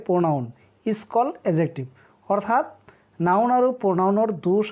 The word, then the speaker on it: adjective: আপোনালোকে লক্ষ্য কৰিব এইটো এডজেক্টিভৰ উচ্চাৰণটো এডজেক্টিভ নক'ব কেতিয়াও, এডজেক্টিভ ডিৰ উচ্চাৰণটো সাইলেন্ট থাকিব অৰ্থাৎ উজ্জ থাকিব।